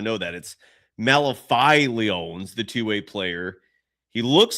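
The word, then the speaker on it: Malevy: By the way, his name is his first name is pronounced Malifi. I did not know that. Malifi the two-way player.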